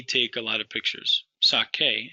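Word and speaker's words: saque: Sake is how that first singular would be pronounced. And that QU is going to be present in the whole conjugation.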